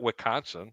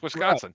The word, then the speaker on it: Wisconsin: The S isn't silent. It's not Wisconsin. It's Wisconsin. Right.